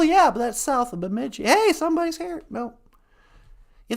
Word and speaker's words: Bemidji: from Laporte well yeah but that's south of Bemidji hey somebody's here no you think that's bad